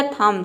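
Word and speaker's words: thumb: जैसे कि थम, यहाँ पे देखिए एम बी आया है तो यहाँ पे बी साइलेंट रहेगा। किसी भी वर्ड में एम बी एक साथ आता है तो वहाँ पे बी साइलेंट रहता है। देखिए टी एच का हो जाएगा थ, यू का हो जाएगा अ, एम का हो जाएगा म, और बी साइलेंट है क्योंकि एम के बाद बी आया है। पूरा हो जाएगा थम। थम मतलब होता है अंगूठा।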